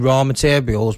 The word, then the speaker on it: Ror Materials: If you just go on Spotify and type in Raw Materials, but remember it's spelled R-O-R Materials, not raw, R-A-W, R-O-R Materials.